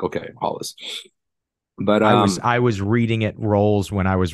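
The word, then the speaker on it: Rolls: as well it's not roles and like okay Hollis but I was I was reading it roles when I was reading the book knowing the Portuguese pronunciation yeah Brazilians will correct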